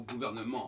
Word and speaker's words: gouvernement: pas, quand ils empruntent le mot gouvernement en français, nous, on n'emploie pas le T. On l'écrit, mais on ne le prononce pas. Ben, eux, ils le prononcent.